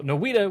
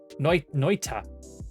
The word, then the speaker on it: Noita: So, Noita was developed by a Finnish team, and the name means witch in Finnish. Pronounce Noita, not Noi.